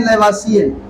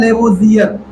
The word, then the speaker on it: Lavoisier: लैवासिए कह देता हूं, लेकिन इसका जो है शुद्ध प्रोनाउंसिएशन है वो होता है लेवोजियर। लेवोजियर। जब आप इसका अंग्रेजी देखेंगे तो आप पाएंगे कि देखो, जो लैवासिए उसका अंग्रेजी लिखा जाता है LAVOISIER। तो यहां इसका प्रोनाउंसिएशन ये होगा लेवोजियर।